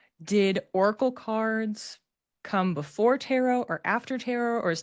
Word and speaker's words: tarot: I pronounce the word tarot. Some people will say tarot. There's a few different pronunciations of it, so you may hear it said in different ways, but that's just my preference.